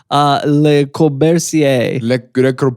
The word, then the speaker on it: Le Corbusier: Le Corbusier.